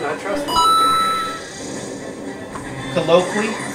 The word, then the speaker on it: Colloquy: said I trust him colloquy or maybe it's colloqui yeah colloqui is the uh it's spelled c-o-l-l-o-q-u-y it's the name of